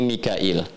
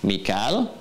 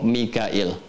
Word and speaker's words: Mikail: wajib dari Navya dibacanya Mikail ya makanya kita bisa baca dengan Michael atau Mikail Mikail nah kemarin kita sudah